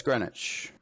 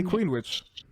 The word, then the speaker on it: Greenwich: in in general right no it's greenwich it's greenwich in england yeah but americans say queen witch maybe magnolia is uneducated